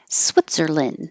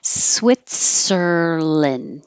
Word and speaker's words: Switzerland: Switzerland. This is how Americans pronounce it. Switzerland. We don't say land. It's lin or lun, but not and. Switzerland.